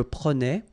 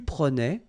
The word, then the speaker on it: prenais: Alright, so same thing here, final S not pronounced. Je prenais, tu prenais, il prenait, final T not pronounced, so the same form, okay?